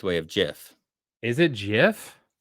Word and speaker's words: GIF: the correct way of GIF is it gif it's GIF bro I don't know J because GIF is like Jiffy Lube it's like a peanut